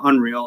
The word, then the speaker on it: UNRL: Well, Unreal is spelled UNRL, a big clothing brand